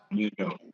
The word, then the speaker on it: Mandeaux: Now, folks, if you want to check it out, go to is it Mandeaux? Is that how it's pronounced? Mandeaux.